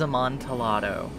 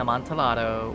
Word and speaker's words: Amontillado: Yeah, I still don't know how I'm supposedly saying Amontillado wrong, but, in year 10 English, I was told the double L's in Amontillado were pronounced with, like, a Y.